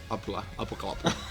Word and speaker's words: Apocalyptica: But though we have now like a record company based in London and New York, none of them can pronounce Apocalyptica. It's Apocalyptica.